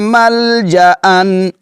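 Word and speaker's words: ملجأً: دو جو زبر ہیں, اس کو آپ نے مل جا ان پڑھنا ہے, مل جن نہیں پڑھنا. لو یجدون ملجأن, لو یجدون ملجأن, اس کا اگر ہجے کریں گے تو کیسے کریں گے؟ میم لام زبر مل, جیم زبر جا, مل جا, اس کو حمزہ پڑھیں گے, حمزہ دو زبر ان, ایسے اس کا ہجے کریں گے, حمزہ دو زبر ان, ملجأن.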